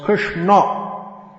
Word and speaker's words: Krishna: that chris so krishna krishna in sanskrit is pronounced krishna you've probably heard the